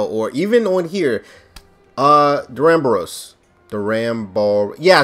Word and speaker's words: Duramboros: title or thumbnail or even on here uh deramboros the ram ball yeah i said it right